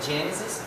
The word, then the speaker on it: Genesis: Conhecido o primeiro livro da Bíblia, Gênesis, na nossa Bíblia, em inglês é Genesis. Genesis, que traduzido é Gênesis, se pronuncia Genesis e se escreve, se pronuncia, Genesis e se escreve Gênesis, da mesma forma que se pronuncia.